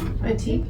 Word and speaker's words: batik: Batik.